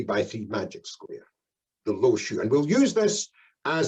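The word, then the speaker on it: Lo Shu: a very famous one this is called the low shoe now that's spelled l o hyphen s h u and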